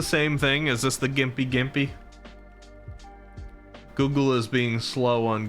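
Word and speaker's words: Gympie-gympie: Nerve says there's one related to stinging nestle called Gimpy Gimpy, pronounced Gimpy Gimpy, that if you brush up against it, it feels like you get on fire and electrocuted at the same time.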